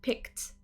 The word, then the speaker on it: picked: you picked so notice when i add the e d ending to pick it becomes a t sound picked picked let me peek